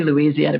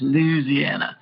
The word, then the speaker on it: Louisiana: I say Louisiana, but he says Louisiana, which sounds very, very much more Southern to me.